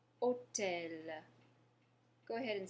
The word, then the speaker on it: hôtel: All right, and our next example is hôtel. Hôtel. Go ahead and say that. Hôtel. Good. Hôtel. So remember, your H is mute, so we're not pronouncing the H.